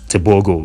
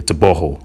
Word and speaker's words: Tebogo: Yeah, that GO is pronounced as ho, so it's not TEBOGO, man.